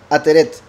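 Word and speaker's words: עטרת: Y en hebreo era ateret. He dicho ateret y aretet. Sí, ateret.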